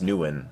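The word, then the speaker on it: Nguyen: or anything really I didn't hear you it's pronounced new win all right thanks Microsoft Anna you did it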